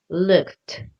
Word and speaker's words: looked: Instead, looked. The ed sounds like a t, like really strong, looked.